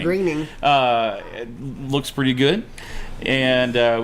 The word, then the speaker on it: Groening: It's pronounced Groening. Groening.